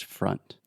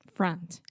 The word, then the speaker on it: front: sound freh and then you have that final n sound so the tip of your tongue is touching the roof of your mouth front front yes so